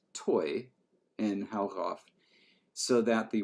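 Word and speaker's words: toe: Let's make the word for metal T-O-E, pronounced toy, in Haugauf, so that the word for metal dog was toy dog, or toy bram.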